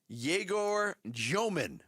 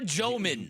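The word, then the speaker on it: Egor Dëmin: fuse got lit was Jaor Jman. That's how you pronounce it. That's how you pronounce it. Jaorman. Yeah. Rhymes with Abe Froman.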